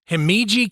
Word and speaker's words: Himeji: I'm trying to say this correctly it is heiji Castle um I'm not going to be able